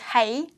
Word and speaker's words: 是: And in Canto is hei.